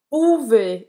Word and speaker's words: pouvez: Então, pouvez. E aí, esse Z aqui não tem um som, tá? Esse EZ tem o som de E. Então, pouvez.